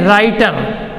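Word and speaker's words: writer: क्या पढ़ रहे हैं राइटर लेकर इसमें क्या है साइलेंट है तो राइट को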